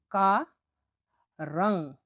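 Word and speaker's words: qarang: পরবর্তী অক্ষরটি হলো কিউ, কিউ এর উচ্চারণ হয়ে থাকে ক হিসেবে, বাট এটা কে, কে যে ক আমরা বলি কি তব হিসেবে, সেটা একটু হালকা হয়, বাট এই কিউ এর কটা উচ্চারণ একটু গভীর হবে। তাহলে আমরা উদাহরণটা দেখছি, তাহলে কি এর উচ্চারণ হয়ে থাকে ক এর মতো।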